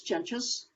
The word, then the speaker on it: Jentges: um as katie said my name is jenchus good job on pronunciation with the name thank you um i